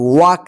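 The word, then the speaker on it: walk: डब्लू ए एल के वाक देखिए य एल जो है साइलेंट है ठीक है वक वक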